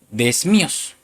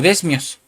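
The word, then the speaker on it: δέσμιος: Y prisionero, hermano, es la palabra strong número 1198, una palabra griega que se pronuncia desmíos o desmios, que quiere decir cautivo, pero no cautivo a una cárcel, hermano, sino atado a Cristo.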